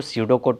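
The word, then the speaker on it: pseudo code: पी हैकि ये P silent होता है। इसको सडो कोड पढ़ेंगे।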